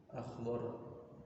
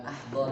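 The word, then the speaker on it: أخضر: akhdar. Akhdar. Ya. Akhdar apa akhdar? Hijau. Akhdar hijau. Bukan ahdor ya. Bukan ahdor. Kalau ahdor atau ahdur nanti jadinya ahdur itu bacanya. Akhdar.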